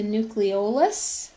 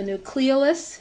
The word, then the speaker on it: nucleolus: of the nucleus is the nucleolus or the nucleolus it's pronounced both ways that's his kind of